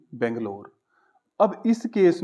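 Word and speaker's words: Bengaluru: transport करना है मैंने बेंगलोर ठीक है वैसे बेंगलुरु बोलते हैं मैंने बैंगलोर लिख दिया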